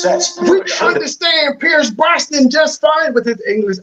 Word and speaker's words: Brosnan: I thought it was Bronson. Are you no, that's Charles Bronson. But Charles Bronson. Pierce Brosnan, sir.